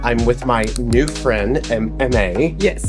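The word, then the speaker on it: Aimee: with my new friend, M.A. Yes. M.A., exactly. And beautiful. Spell it for us again. A-I-M-E-E. And you said it's French, like Yes. French. I love that.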